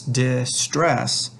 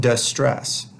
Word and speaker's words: distress: that tells you that the stress of this word is on the second syllable so it's distress not distress so the syllable is